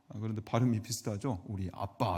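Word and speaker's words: אבא: 부르짖는다 이렇게 소개하고 있습니다 어 발음이 정말 비슷해요 아람인데용 아빠 할 때 아빠 그 마치 어린아이가 부모에게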